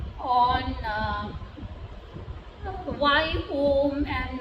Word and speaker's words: Om: So pronunciation is a, u, and m.